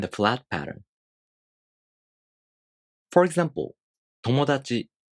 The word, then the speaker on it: 友達: For example, 友達. The pattern for this word is flat. So this word has no accent.